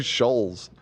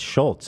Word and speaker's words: Schulz: name after the Schultz they're saying his name wrong she was saying Shoals yeah no it's Schultz I believe that's what